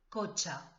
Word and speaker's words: cotxe: Este sonido, che, el coche, C-H, en catalán se escribe T-X, el cotxe.